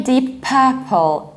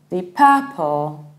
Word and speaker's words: Deep Purple: And another important rule, we don't say deep purple, deep purple, we don't pronounce it separately and we don't pronounce P twice.